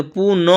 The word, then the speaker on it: पुनः: यानी पुनः क्या पढ़ेंगे? पुनः अह पुनः। ठीक है?